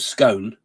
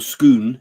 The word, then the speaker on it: Scone: I said the stone of Scone, or Scone, is it pronounced?